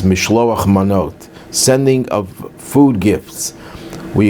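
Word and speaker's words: משלוח מנות: That's the Yiddish pronunciation. It's Mishloach Manot, sending of food gifts.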